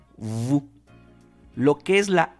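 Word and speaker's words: vous: de la letra s la s cuando se encuentra al final de la mayoría de palabras no se va a pronunciar por eso es que decimos Vu lo que es la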